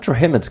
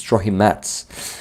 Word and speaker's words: Trohimets: It's not Trohimets, guys. I was always saying it wrong. Lila told me that it's Trohimets.